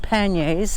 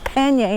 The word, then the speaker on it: pannier: So I had all my luggage, my bike luggage, called panniers, and yes, it's pannier, not pannier. In Canada, I think that's the way it's supposed to be pronounced.